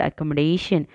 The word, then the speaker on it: accommodation: on the fourth syllable the primary stress in the word accommodation falls on the fourth syllable is the correct answer